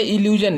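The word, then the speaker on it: illusion: एस आई ओ एन, आई का उच्चारण हम ई के रूप में यहाँ कर रहे हैं।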